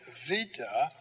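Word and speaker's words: βήτα: Then we say vita, V, V.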